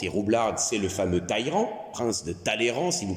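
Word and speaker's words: Talleyrand: Ces deux autres personnages, c'est et bien pour la personne intelligente et roublarde, c'est le fameux Tairan, prince de Talan si vous préférez, mais il paraît qu'il faut prononcer Taïran.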